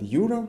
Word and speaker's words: Юра: And Yura, the emphasis falls on you.